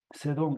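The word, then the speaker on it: Sedom: Ah, el nombre Monte Sedón sigue la actual pronunciación hebrea del nombre bíblico Sedón. De hecho, en la traducción que hemos leído, le llamamos así, en vez de decir Sodoma, decimos Sedón, porque es pues digamos, la transliteración hebreo.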